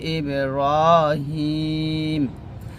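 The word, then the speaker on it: إبراهيم: ইবে কলকলা র খা জবর টানবো ওয়ালা আলি ইব্রাহিম এখানে হাই ইয়া জের হিতে আমরা তিন টান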